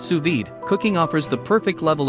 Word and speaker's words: sous vide: C 0.2 F accuracy what to cook suid pronounced suid cooking offers the perfect level of dness for